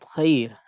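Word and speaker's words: خَيْر: Contoh dalam kalimat khair. Dan ya madiyah contohnya adalah basir. Maka ra-nya dalam keadaan dibaca tipis. Sekali lagi, ra yang dalam keadaan sukun, kemudian dia waqaf.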